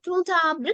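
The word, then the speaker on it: grand arbre: දැන් ඔන්න අපි d එක කියවන්නේ නැහැ. d එක silent. මෙතන බලන්න ඔන්න d එක silent letter එකක් කිව්වා. ඒකට පිටිපස්සෙන් අර abra කියන වචනේ තියෙනවා. abra කියනවා අපි tree. ගසක් කියන එක. එහෙනම් ඔන්න vowel එකකින් පටන් අරන්. එහෙනම් silent letter එකක් පිටිපස්සෙන් vowel එකකින් පටන් ගන්න වචනයක් තියෙනවා නම් අපි ගන්නවා liaison එකක්. එහෙනම් මෙතන මම කියනවා gruntabra කියලා.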